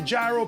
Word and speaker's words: gyro: Okay, so the real pronunciation of the gyro in Greece is yido. People say gyro, people say yeo, people say tomato, people say tomato, yido, gyro.